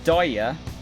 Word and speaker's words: Dia: Dia is pronounced Daya.